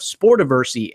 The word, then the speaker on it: Sportiversity: You know him from CBS Sports, former writer of CBS Sports, and the founder of Sportiversity. Alex, are you there? Did I pronounce the website right?